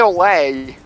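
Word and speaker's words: au lait: Well, Cafe Ole. I heard it pronounced ole.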